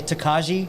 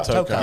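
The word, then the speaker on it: Tokaji: It's and just quick side note, it's kind of like people that say Takaji finish. Yeah. It's Tokai. It's Tokai. The wine, Yeah, Tokai.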